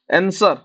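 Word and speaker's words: answer: टा साइलेंट रहबो muscle आंसर आंसर रे कोन साइलेंट होची डब्ल्यू साइलेंट होची सर आंसर एन सौरु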